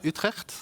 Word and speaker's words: Utrecht: We are in the city of Utrecht, which is hard to pronounce when you're not Dutch. Can you say it? Let's try Utrecht.